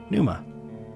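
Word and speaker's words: pneuma: look this up too it's probably just Numa right God how come nothing has pronunciations pisses me off okay here we go Mariam Webster Numa Numa okay sounds good Soul or Spirit we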